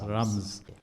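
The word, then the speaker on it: رمز: That is the root word in Arabic, and it is pronounced in Arabic as rams. Okay, so that is the right pronunciation.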